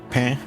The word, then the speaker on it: pain: It's funny that in French it's a nasal vowel too, right? Pain.